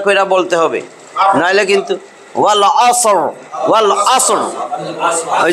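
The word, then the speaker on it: والعصر: ওই যে পড়ায় কিন্তু দেখেন ওরা ঠিক মতনই পড়ায়, যারা জানবে না তারা কি করবে, ওয়াল আসরি, ওয়াল আসরি বলা যাবে না, ওয়াল আসর। এবং শেষের রটা মোটা, ওয়াল আসর, ওয়াল আসর, ওয়াল আসর, ওয়াল আসর।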